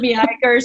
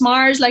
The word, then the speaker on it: Meaghers: We were like, it's Mars, as in the chocolate bar, Mars bar, or whatever.